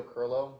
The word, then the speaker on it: Kirylo: My name is Kirylo. My last name is spelled KirYlo.